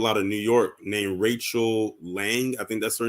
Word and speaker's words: Lange: And you said her last name was Lang? Yeah, her name is Rachel Lang. Her last name is spelled Lange. Oh, Lange. Okay.